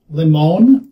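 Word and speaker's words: limón: This is fiery chile limon. Limon? I don't know. It's the accent on the O.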